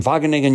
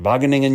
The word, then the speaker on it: Wageningen: Founded as a spinoff from Wageningen University, yes, I like to say that to prove that I can pronounce it, Wageningen University, ChainCraft is pioneering open culture fermentation processes